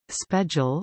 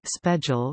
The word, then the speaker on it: special: Special, some speakers, equals I, spedjal or spedjal rhymes with spatial.